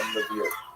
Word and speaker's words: Lviv: So this is in the western part of Ukraine, not too far from Lviv, or Lviv as it's pronounced now.